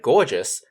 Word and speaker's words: gorgeous: in the word gorgeous the letter g makes both the hard g sound and the soft g sound so g o r makes the gau sound which is followed by the g e and the o u s ending for the just sound at the end g o r g